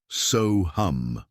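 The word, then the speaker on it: सोऽहम्: The word is SoHum, pronounced SoHum.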